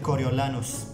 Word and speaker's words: Coriolanus: english pronunciation is snow in my language which is spanish we would say coriolanos coriolanos but i think there is a name a version of this name coriolenus coriolanus i prefer coriolis who